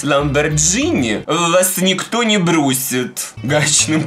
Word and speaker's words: Lamborghini: Всё мы её отправили Давайте продолжать веселиться коктейль Lamborghini кстати правильно говорить именно Lamborghini Но если вы будете говорить единственный недостаток первого коктейля Ferrari в том что косточки я черенки застр между зубами так вот правильно говорить Lamborghini Но если вы будете произносить Lamborghini вас никто